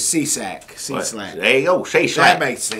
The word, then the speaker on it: Cieslak: His name is spelled C. I E S L A K. Right. And he says Cieslak.